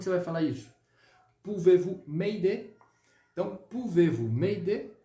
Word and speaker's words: m'aider: Pouvez-vous m'aider? Beleza? Essa estrutura aqui você precisa saber, tá? Bem simples. Pouvez-vous m'aider? M'aider. Você não vai pronunciar o R aqui, tá?